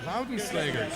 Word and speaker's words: Laudenslager: I got the hard G right. Laudenslager.